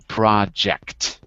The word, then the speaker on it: project: word project project yeah i've got to hear that j sound because obviously in spanish it's a yeah but in english it's a j like john so project that's it okay are